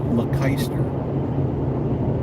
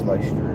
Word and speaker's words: Leicester: Welcome to Leicester. There's probably a different way to pronounce that.